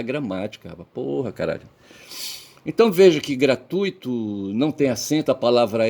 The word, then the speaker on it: gratuito: Mas você você tem é gra primeira sílaba, tui segunda sílaba, to terceira sílaba, tá certo? Então veja que na segunda sílaba tu, certo? Você tem o u ali dominando, você recebendo o acento tônico, certo?